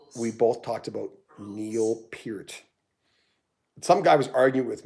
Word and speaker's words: Peart: albums of all time neil peart it's ear look at ear pierc i